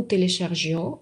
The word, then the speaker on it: téléchargeons: Je télécharger, tu télécharger, ils, elles ont téléchargé, nous téléchargeons, vous téléchargiez, ils, elles téléchargeaient. Обращаю ваше внимание, что сама ее никак не читается, но она помогает нам не деформировать глагол на произношении.